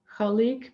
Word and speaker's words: Khaliq: from the arabic and the sound has a kind of glitteral sound at the beginning and the q at the end is kind of like a k but it's a little bit farther down in the throat if you say it